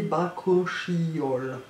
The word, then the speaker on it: Bakuchiol: Bakuchiol, prononcé Bakuchiol.